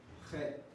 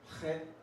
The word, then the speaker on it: Chet: Chet. Guttural sound. Guttural. Chet. Try not to spit on someone when you pronouncing these things. Chet. Chet. There's no, you can't really spell out, so I just put K-H. Chet.